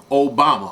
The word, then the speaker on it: Obama: Okay, and remember, Barack Hussein Obama. Obama rhymes with Osama.